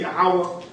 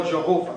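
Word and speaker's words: Yahweh: that's why they got it written Jehovah but if you read in the Hebrew it's going to say yahwah just like y have in his book that this seems to be the true Hebrew pronunciation of the Divine Central name yahwah or Jehovah got it right here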